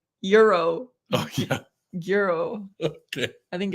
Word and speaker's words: gyro: like a yeah or maybe it's like a silent G no she just said it's like Euro oh I I understand